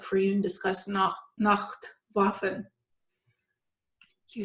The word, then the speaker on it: Nacht Waffen: how that was like for you, and discuss Nacht Waffen. You said it right. I'm trying to pronounce it correctly.